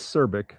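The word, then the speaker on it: Cirbic: Every time you say that, I keep thinking you're saying Cervic with a V instead of a B.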